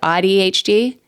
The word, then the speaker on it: AuDHD: AuDHD?